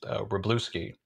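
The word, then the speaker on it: Wroblewski: But I believe his last name is pronounced Rebluski.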